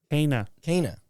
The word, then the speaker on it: Kena: Kana. Started playing it this Kana. morning, so Kana. she introduces herself at the beginning of the game as Kana.